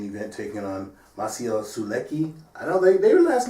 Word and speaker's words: Sulecki: taking on my co su Leckie I don't think maybe last night they were saying even what's his name Jim Lampley made a point to say his name was Sol a she or something and he said I